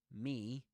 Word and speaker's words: me: Me, that one, because it's in isolation, that's the strong form of me. That is pronounced with the fleece vowel sound. You'll see that on the chart. Okay, you'll see that on the chart. And yeah, that's the fleece vowel sound for me.